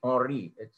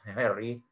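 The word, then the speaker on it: Henri: gentleman antoine or rihari or it's not pronounced harry but ori becquerel he discovered radioactivity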